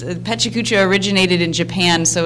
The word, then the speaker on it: pecha kucha: six minutes 20 slides and the event is pronounced pecha kucha such a couch i I'm gonna be there